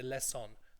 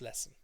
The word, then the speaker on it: lesson: Students tend to say lesson. They overpronounce that. It's lesson.